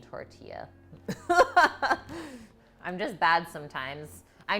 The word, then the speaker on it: tortilla: a bread dough oh i know the l is silent in tortilla i'm just bad sometimes